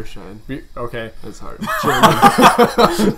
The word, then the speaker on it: Bierscheid: Bierscheid.